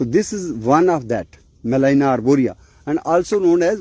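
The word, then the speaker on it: Gmelina: you retained this is Melina arboria named after a German bottom but not only botanist he was a naturalist basically Malin g is silent so in his honor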